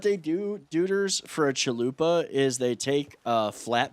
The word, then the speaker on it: chalupa: a thing on it called chalupa it's it rhymes with chanupa so yeah that's how